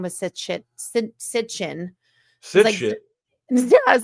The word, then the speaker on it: Sitchin: It's Sitchin. I know how to spell it because I had the book.